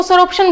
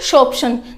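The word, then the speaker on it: sorption: इसको देखो बहुत से बच्चे इसको सोरोप्शन बोलते हैं, लेकिन ये सोरोप्शन नहीं है, यहाँ पर प्रोनाउंसिएशन भी मैंने लिखी हुई है, ठीक है। क्या है ये, शोप्शन।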